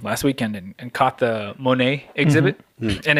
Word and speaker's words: Monet: just last weekend last weekend and caught the Monet exhibit and it's the later he always it's pronounced monette it cloudy Monett and so it's the later